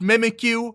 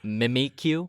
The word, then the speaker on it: Mimikyu: were doing they introduced mimikyu uh and i'm sorry sorry don't you mean mimikyu oh yeah mimikyu uh